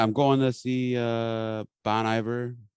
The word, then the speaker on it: Bon Iver: going to see uh bon iver yeah bony bear however you want to say it he justin verner the lead singer founder of the band says he doesn't care how you say it just listen to his music illusion illusion yeah um